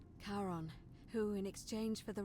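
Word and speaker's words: Charon: name you heard wasn't Karen it was c h a r Heron as in Caron the ferryman of the Dead karon who in exchange for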